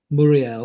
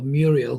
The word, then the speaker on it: Muriel: that is Colombian international Luis Muriel, or Muriel, if you want to call him that, depending on which way you pronounce it.